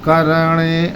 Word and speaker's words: करणे: जिस प्रकार करणे ऐसे आराम से नहीं बोलेंगे। रा आधा है रा को बोलते ही ण को पकड़ लेंगे। ण पर समय देंगे। करणे करणे इस तरह बोलना है इसे। जैसे कर्ण बोलते हैं वैसे बोलेंगे करणे।